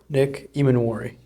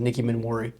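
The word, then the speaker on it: Emmanwori: Nick Imanwari. Sounded like you said Nicki Minwari.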